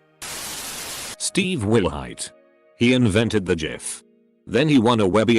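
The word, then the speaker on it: GIF: went up and said it's pronounced jif ajif jod himself could come down and tell me that i wouldn't believe it it's jif forever bye whoever put the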